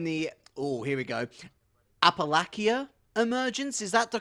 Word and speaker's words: Appalachia: they are in the oh here we go apalachia emergence is that the correct way to say that Appalachia Appalachia okay certainly not like I'm British and